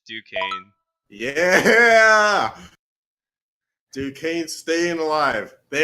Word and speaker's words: Duquesne: Oh, it's Duquesne.